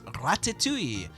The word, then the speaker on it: Ratatouille: week when we'll be talking about Ratatouille. Yeah, you gotta say it like that. It's very French.